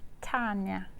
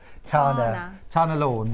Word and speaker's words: Tana Lawn: Tanya. Not Tanya. Tana Lawn.